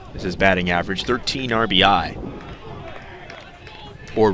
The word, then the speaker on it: RBI: plate now 227 is his batting average 13 RBI or ribbies some people I get a call there's a fun debate about how people should pronounce RBI you know people sometimes will say